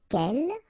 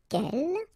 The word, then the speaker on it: quel: form of the feminine, quel, like that. So the first thing, the good news is that if you listen carefully, quel, quel, quel, quel, okay, so phonetically you get only one form.